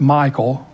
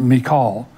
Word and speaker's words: Michal: Michal, which is, we usually pronounce it Michael, but it's really pronounced Michal, who is Saul's daughter, was David's first wife.